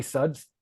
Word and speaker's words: K Suds: in ninth is K Suds or Suds with the silent k it's a beer thing